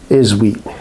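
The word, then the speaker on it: Tshiebwe: the ball for Oscar isweat oh the hell it's their rookie you know it's he's another one with a te in the front of his name and is silent MH so it's their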